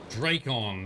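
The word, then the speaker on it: Drakon: be a gift from cordelis draco first emperor of orlais no one would just lose such a thing dracon that's how you pronounce the name what can you tell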